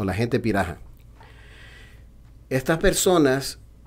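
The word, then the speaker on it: Pirahã: les conoce como los Piraha. Se escribe Piraha, con H intercalada, pero para brasileños, en portugués y en el inglés, la H suena como J.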